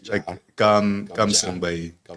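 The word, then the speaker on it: cơm: What is the Gum. okay, gum? Yeah. Okay. But it's spelled with a C, but it's pronounced Yeah. with a G.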